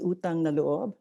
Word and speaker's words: utang na loob: So this is a phrase, utang na loob, which means, and you pronounce that, it's a Tagalog phrase, utang na loob.